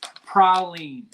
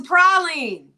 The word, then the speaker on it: praline: So, for the record, the local and proper pronunciation is praline. It's a praline.